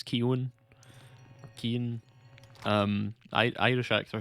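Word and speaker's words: Keoghan: um baddie keewan ki kioghan that's how it's spelled but i think it's keown keane um i irish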